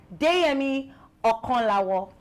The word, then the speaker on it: Deyemi Okanlawon: highest grossing actors in Africa on my couch, Deyemi Okonlawo. Did I pronounce it well?